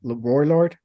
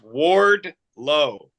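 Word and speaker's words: Wardlow: MGF and ORD isn't that what is it warlord what did I say warlord yeah you said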